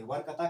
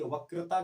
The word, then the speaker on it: वक्रता: वक्रता केंद्र ठीक है बहुत से बच्चे इसको उच्चारण नहीं कर पाते वकता केंद्र बोलते वकता केंद्र नहीं है य वक्रता केंद्र है वक्रता ठीक है वक्रता